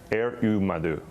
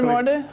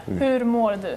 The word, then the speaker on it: Hur mår du: Du madu. Is that, did I say that correctly? Hur mår du? How are you? Yes. Yeah. Hur mår du?